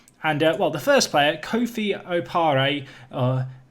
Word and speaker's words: Kofi Opare: And well, the first player, Kofi Opare, Kofi Opare, that is how you say his name.